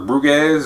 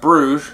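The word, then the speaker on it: Brügge: pronounce this I was calling it bu or buges or something like that it's called pronounced Brugge at least according to Google this is a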